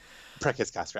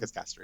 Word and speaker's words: Preces Castri: Preces Castri. I prefer the classical Latin pronunciation. Okay, perfect. Preces Castri.